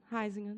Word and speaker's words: Huizinga: Eu chamo de Ruizinga. É excelente esse livro. Aliás, eu chamava de Ruizinga. Como é que você chamou? Huizinga. Certamente a sua pronúncia é mais certa.